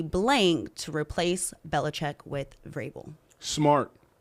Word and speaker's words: Vrabel: The big news in the NFL yesterday was the Titans firing Mike Vrabel. That's right. Yeah, I said it right. That V is there for no reason.